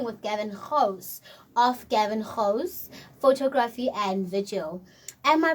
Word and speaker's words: Gouws: we are speaking with gavin host of gavin hoes photography and vigil am i pronouncing your um your surname correctly 100 thank